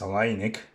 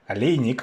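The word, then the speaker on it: Aleinik: suppose lewis uh versus alainik or if you want to say his name properly ali nick i want to be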